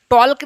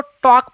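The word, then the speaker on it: talk: अब बात करना का होता टॉक, बात करना का टॉक, TAL को टॉल्क नहीं पढ़िएगा, TAL को टॉक पढ़िएगा, L साइलेंट रहेगा, L साइलेंट रहेगा।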